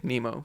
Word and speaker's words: Nemo: In Swiss German, I say Nemo, but in English, I say Nemo.